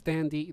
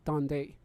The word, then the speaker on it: Dande: the same name it is okay so it's dandy not donde well it's spelled d-a-n-d-e or d-a-n-d-y d-a-n-d-e double dandy so